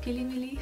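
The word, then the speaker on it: Fillimilli: the brand Philly Milly they pronounce it as pilimili which is so cute I love it one is the base eyeshadow brush 550.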